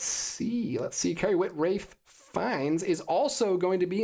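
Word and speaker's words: Ralph Fiennes: you Marty DM C it's actually pronounced Rafe fines thank you thank you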